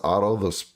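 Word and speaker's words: Orto: They're pronounced Auto. They're spelled O-R-T-O.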